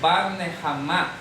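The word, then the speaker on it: בר נחמא: Bar Nehamá es como se dice en arameo.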